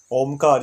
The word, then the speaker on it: ओम: और हमने देखा था कि ओमकार जो 3 शब्द वाला प्रणव मंत्र है, अ ओ और म तीनों का उच्चारण करना चाहिए। तो अ उ और म करके ओम हो जाता है।